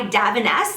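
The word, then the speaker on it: Davines: has saved it and this is by Daves that's how my hairdresser pronounces it I think it looks like it's dein divines but he says DAV um and I had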